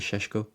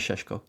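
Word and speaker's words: Šeško: Um, I hope I'm saying that right. I believe it's Shesho. Benjamin Sheshko. Yeah, Benjamin Sheshko.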